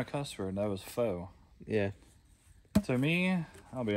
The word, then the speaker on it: faux: A fox. Wait, faux. No. It's faux. P-F? It's faux. F-A-U-X. Is that how you say it? Yes, faux? It's faux. That's it's crazy. Not, it looks like fox.